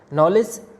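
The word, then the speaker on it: knowledge: नॉलेज, नॉलेज में भी D silent है, यहाँ पर डी की कोई भी साउंड नहीं आ रही है।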